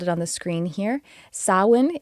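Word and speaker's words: Samhain: Alexis has spelled it on the screen here sawin it's spelled s m h a i n and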